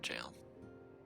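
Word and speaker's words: gaol: Oh, they're in jail. British spelling of the word jail. I see it. Look at Jailbreak. Oh. Oh. Oh. Is it still pronounced jail? Spelled G A L. Jail.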